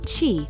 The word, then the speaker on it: qi: the circulation of energy she pronounced chi throughout the body which